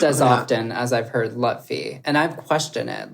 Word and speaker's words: Lutfi: So in this documentary, it's got Sam Lutfi, which it's I have been pronouncing and spelling his name wrong for the last however many years of my life. I thought it was Sam Lufty.